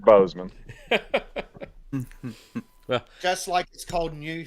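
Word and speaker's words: Boozman: speaking of uh intoxicants boozeman has uh clinched the Arkansas senate seat oh I'm going with boozeman though because it's more fun I know but you pronounce it Bozeman well just a whole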